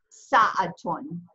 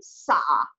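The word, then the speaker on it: ساعة: Okay, so that would just be like in regular dialect, you'd say sa'a, but in modern standard Arabic with proper grammar, it's pronounced sa'atun, sa'atun.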